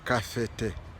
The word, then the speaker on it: Kabete: But in Kikuyu it is KABETE, but it is pronounced as kafete.